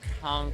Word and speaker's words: conch: We did conch salad, conch fritters. Is it conch or conch? Conch. Conch. No, sorry. conch. He said it right. Oh, I did. You said it Conch. right. Oh, yeah, I was wrong.